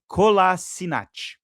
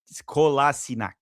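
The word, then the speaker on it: Kolašinac: Kolasini- Kolasinac. I think that's how you pronounce it.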